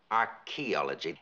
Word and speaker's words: archaeology: Archaeology. Archaeology. The H is silent.